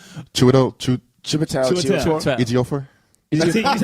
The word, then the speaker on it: Chiwetel: I pronounce his name wrong every time. Chitwell. Chiwetel Chiwetel.